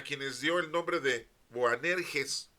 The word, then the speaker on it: Boanerges: dio el nombre de boanerges o banes bueno como quieran ustedes pronunciarlo no es una es una palabra media rara en español pues se puede leer buanerges buanerges los hijos del trueno